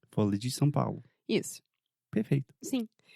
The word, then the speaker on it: Folha de São Paulo: em português, porque, primeiramente, você tem a palavra folia, que tem o som de LH, que é difícil pros gringos, pelo menos é difícil para mim. Também em São Paulo você tem uma vogal nasal são Então se você está querendo treinar a sua pronúncia, fala isso, tipo mil vezes.